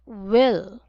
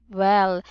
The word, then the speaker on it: will: pronounce this all right it's actually will will not well we will use a short I for this one will like oh